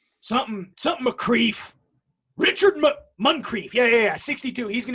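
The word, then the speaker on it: Muncrief: board um what's the guy's face ma dale moncrief i'm saying his name wrong something something mcrieff richard muncreef yeah yeah 62.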